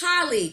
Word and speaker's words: Halee: And I've been mispronouncing your name. It's Halee, correct? Halee, yes.